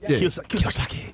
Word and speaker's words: Kiyosaki: Kiyosaki.